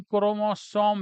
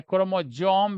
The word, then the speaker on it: क्रोमोसोम: गुणसूत्र, जिसको हम क्रोमोसोम भी कहते हैं, गुणसूत्र, है ना? गुणसूत्र, क्रोमोसोम या क्रोमोजोम भी बच्चों बहुत सारे बोले जाते हैं, है ना? थोड़ा-सा प्रोनाउंसिएशन थोड़ा सबका अलग-अलग होता है।